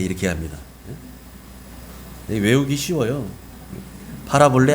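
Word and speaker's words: παραβολή: 헬라어 원어에서는 뭐라고 하냐면 헬라 원어에서는 파라볼레 이렇게 합니다. 외우기 쉬워요. 파라볼레 안 파라볼레 이거 외우라는 얘기는 아니고요.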